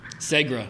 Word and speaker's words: Segra: First of all, how do we pronounce the stadium's name? Segra.